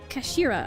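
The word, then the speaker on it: 頭: hilt yes do it it's written as head in japanese but it's pronounced as kashira i believe kashira some sookie's words really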